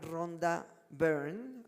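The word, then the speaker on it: Rhonda Byrne: Ahora, el número seis está más fuerte todavía porque eh esta señora Ronda Burn, así se pronuncia, es era una mujer australiana, es una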